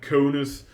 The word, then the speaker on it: conus: hard and everyone in a conus which rhymes with anus gets crushed you just